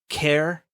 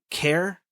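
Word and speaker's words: XAIPE: um so care is like I am Greek letters anglicized to their closest English equivalent although spelled x-a-i-p-e it's pronounced care which in Greeks means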